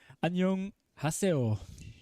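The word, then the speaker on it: 안녕하세요: to me okay obviously he mentioned that we have to say anyong with the pronunciation or kind of lift up the the young sound sorry and to all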